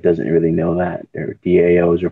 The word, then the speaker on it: DAOs: For anybody that doesn't really know that, their DAOs are pronounced DAOs.